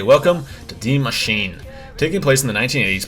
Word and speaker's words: Die Maschine: Though set in the 80s, the origins of Die Maschine, pronounced Die Maschine, for all you non-German speakers out there, reach even further back in history.